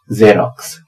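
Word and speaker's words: Xerox: है इसकी स्पेलिंग और पहले वाला एक्स बना रहा है ज और बाद वाला एक्स बना रहा है आधा क और स ये है जेरोक्स यानी जेरोक्स कॉपी फोटोकॉपी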